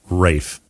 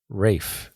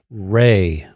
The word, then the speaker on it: Ralph: Yes, his first name is pronounced Rafe. Rafe. Oh, okay, so it sounded like you were saying Ray.